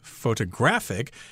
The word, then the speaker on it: photographic: second syllable and then the adjective form is photographic here the accent is on the third syllable I believe that's right